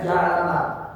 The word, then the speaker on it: Yalamlam: Ada satu bukit yang ada jaraknya itu 2 pahala dari Mekah, namanya Yalamlam. Bacanya Yalamlam.